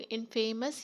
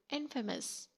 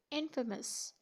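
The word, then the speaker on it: infamous: Mostly इसको लोग इनफेमस ही कहते हैं और ये गलत है। इसकी राइट प्रोनाउंसिएशन है इनफेमस। मीन्स कि फेम को आपने इतना स्ट्रेस नहीं करना, आपने इसको पढ़ना है इनफेमस।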